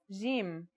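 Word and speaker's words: جيم: Our first letter is jim. This one is easy to pronounce. It's somewhere between a G and a J depending on the accent. For example, standard Arabic, Syrian or Egyptian.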